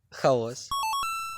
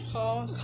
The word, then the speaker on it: хаос: тут обидва варіанти вірні в слові хаос подвійний наголос тому можна казати Як і хаос так і хаос що ж надіюсь наголосами